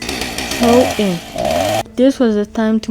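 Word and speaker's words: Samhain: Their year ended in October 31 and the night was called Smith, pronounced throw in.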